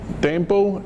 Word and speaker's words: Dambo: My name is Thomas Dambo. It's Thomas with an H, and then it's Dambo spelled D-A-M-B-O. It's like the action hero Rambo, but with a D as in Dennis.